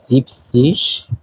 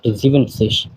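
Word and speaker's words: siebzig: কে বলা হতেছে জেক্সিস 70 কে বলা হয় জিপসিস নট জিভেনসিস একটু ব্যতিক্রম এটা মনে রাখতে হবে 80 কে বলা হতেছে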